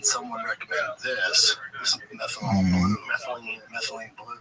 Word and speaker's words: methylene: That's like, and then I stumbled upon was it methanol blue? That's not how you say it. What is the actual methylene?